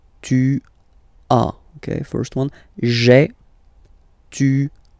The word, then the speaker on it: tu as: Tu as, okay? As usual in French, final S is not pronounced. Tu as. Tu as, okay?